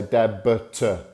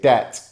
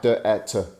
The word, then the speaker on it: debt: Now, take notice of the pronunciation of this word because it has a B before the T, but we don't pronounce it. We don't say debit. We say debt. Sounds like debt.